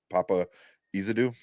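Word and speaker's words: Paapa Essiedu: With I don't know how you pronounce his name, Papa, or is it? Yeah, Papa Izadu.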